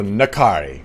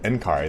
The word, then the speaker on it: N'Kari: of ruin i found nakari ah so nakari okay i always thought i was in khari this whole time a lot of people